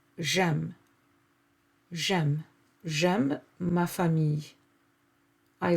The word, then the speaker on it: j'aime: In French, there is no contact between the vowels. We try to separate them. So the way to separate them is to remove the e from je and replace it with an apostrophe like you see here. And so they become one word, and this is j'aime.